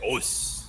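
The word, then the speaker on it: Osu: Ois. Please, I have enough problems trying to. I can't pronounce people's names right. That is a good point. A lot of Japanese martial arts practitioners, they say "os."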